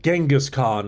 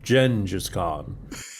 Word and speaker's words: Genghis Khan: It's the people who pronounce it Genghis Khan instead of the appropriate pronunciation, Gengis Khan.